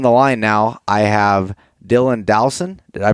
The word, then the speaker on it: Dylan Dowson: podcast and on the line now I have Dylan Dowson did I pronounce that correctly yep yep you got it